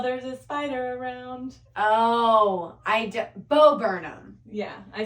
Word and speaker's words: Bo Burnham: Oh, no, it's Bonham or whatever his name is. It's like everyone's a feminist until there's a spider around. Oh, Bo Burnham.